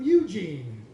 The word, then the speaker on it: Eugene: "All the way from Eugene," he'd say, emphasizing the first syllable and not the second, like he always did.